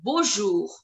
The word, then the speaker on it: bonjour: For example, in bonjour, It is ending with R. So I am pronouncing the letter R as well. It's bonjour, bonjour, bonjour.